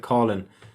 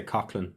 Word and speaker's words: Coughlin: I wonder on Ed's brother-in-law, is it Colin or Coughlin? Because some parts of Ireland they pronounce it Colin. Oh right. In and around Cork they say Coughlin.